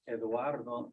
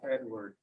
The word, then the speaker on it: Eduardo: Ugarte's real name is Eduardo, not Edward.